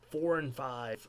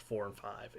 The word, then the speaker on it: IV&V: I hope it's pronounced 4 and 5. It's IV&V. Nope. It's not the 4 and 5. It's the NASA Independent Verification and Validation Facility. It's not the 4 and 5 facility. Which is making efforts to